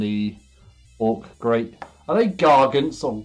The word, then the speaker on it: Gargant: Is it Garge with a G-A-R-G-E? Or is it Garg? Just Gar, G-A-R dash Gant. Gargant. Is it meant to be like gargantuan? Gargants. Hard G. I don't know what that means. Gargant. Gargant. Gargle. As in gargle.